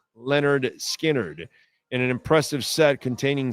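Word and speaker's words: Lynyrd Skynyrd: In 73, Leonard Skinnard released their debut album pronounced Leonard Skinnard in an impressive set containing Skard classics Tuesday's Gone, Simple Man, and Freeird.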